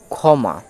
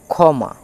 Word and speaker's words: ক্ষমা: তাহলে এটির উচ্চারণ হবে ক্ষমা, এটির উচ্চারণ হবে ক্ষমা। কয়ে মূর্ধন্য ষ ময়াকার ক্ষমা।